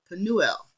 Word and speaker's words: Penuel: of uh canoe pinuel penuel it's a long u sound to nuelle um representative